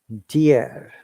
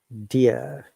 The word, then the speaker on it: deer: Deer. So let's find the word deer. Remember, R is silent here. Dear. Deer. In British English, once again, R is silent. Deer. Deer. And American English, deer.